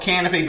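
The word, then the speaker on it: Kanopy: It's basically the Netflix of that, and it's called Canopy, but it's just spelled with a K instead of a C.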